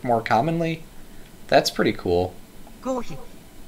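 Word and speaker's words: コーヒー: Kohi. Kohi. It's the pronunciation for coffee.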